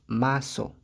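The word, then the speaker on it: muscle: Donc, ce mot se prononce maso.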